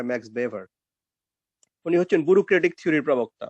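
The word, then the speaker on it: Max Weber: বেভারের কথা আলোচনা করি ইংরেজিতে অনেকে ম্যাক্স ওয়েভার আলোচনা করে জার্মান উচ্চারণে হয় ম্যাক্স বেভার উনি হচ্ছেন ব্যুরোক্টিক থিওরির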